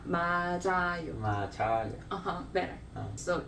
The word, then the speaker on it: 맞아요: Like matcha. 맞아. But that's different pronunciation. 차 and 자 is different. But this one is something that many people get confused. 차, it's the same for me. I'm gonna. This 자, is more like, 자.